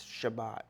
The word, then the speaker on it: Shabbat: as soon as it's Sabbath Shabbat is how you say it in Hebrew soon as this Shabbat